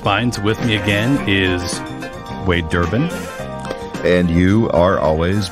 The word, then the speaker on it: Wade: One syllable. Okay, just Wade.